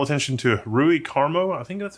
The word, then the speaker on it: Rui Carmo: Also, I want to call attention to Rui Carmo, I think that's how you say his name, r u i Carmo.